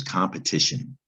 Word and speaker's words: competition: It's very tricky to spell that shun sound. It doesn't look the way it sounds. It comes from the French language, T-I-O-N.